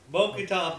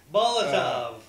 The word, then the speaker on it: Molotov: Mokotov those bitches. Mokotov? Yeah. Molotov.